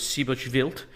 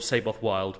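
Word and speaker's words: Seyboth Wild: I'm I'm gonna once say his name the Portuguese way which I believe is sibo revealed but otherwise I'm going to call him saboth wild because everyone else will say that how on Earth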